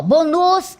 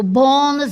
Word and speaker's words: bônus: Eu não digo assim, ó, bônus, eu digo bônus.